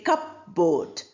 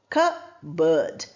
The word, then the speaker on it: cupboard: We don't say cupboard. We say cupboard. Cabbird.